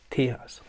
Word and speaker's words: Tejas: top from the album Tejas I'm told this pronounced tears probably my favorite is